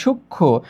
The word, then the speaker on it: সূক্ষ্ম: যদি এইখানে লক্ষ্য করি সূক্ষ্ম, এখানে ক্ষিও কিন্তু আগে থেকেই যুক্ত, ক প্লাস মূর্ধন্য ষ, সেই কারণে তার সঙ্গে যখন ম যুক্ত হয়েছে তখন এখানে উচ্চারণে ম নেই।